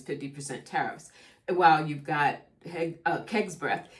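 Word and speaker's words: Hegseth: I was saying Heg's breath yesterday, and many of you were correcting me. Y'all was like, Pepe, if you go say it right, girl. It's I hear you. When you write, you write, right? It's Keg's breath.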